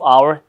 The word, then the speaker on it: hour: but there's a but but we say an hour the age at the beginning of our is silent they make um an